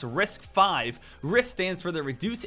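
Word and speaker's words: RISC-V: the Rival architecture is called riscv pronounced risk five risk stands for the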